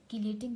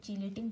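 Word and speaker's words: chelating: ठीक है, कीलेटिंग कह लो, या आप लोग कुछ लोग इसको चीलेटिंग प्रोनाउंस करते हो, जैसे आप लोगों को इजी लगे।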